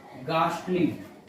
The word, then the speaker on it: ghastly: ये घोस्ट नहीं, ये गोस्ट है, गोस्ट, एच साइलेंट रहता है, गोस्ट होता है, ठीक है, गोस्ट होता है। और होता है गास्टली, GHASTLY, गास्टली, गास्टली।